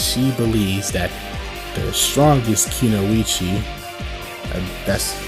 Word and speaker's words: Kunoichi: Because Neji, she doesn't want to share Naruto with anyone, because she believes that the strongest Kunoichi, that's how you pronounce it, a female ninja, Kunoichi, should have someone as powerful as Naruto.